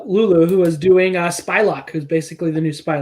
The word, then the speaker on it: Psylocke: uh um lula lulu who was doing uh spylock who's basically the new spy luck right yeah not psylocke as some idiot said psylocke yeah the s